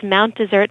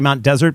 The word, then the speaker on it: Mount Desert: people most people say Mount desert but it should be Mount desert um well locals for the most part call it Mount desert because it's a Corruption of the original French pronunciation Desir oh um